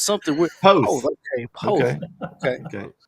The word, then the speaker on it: Poth: That's really the only reason I broke in was to silently and somehow eke you into pronouncing it the right way. Right. I was like, I know it's something. Poth.